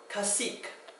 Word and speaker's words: cacique: So, cacique is an American Indian chief. And that one, for the K sound at the end, is a Q-U-E.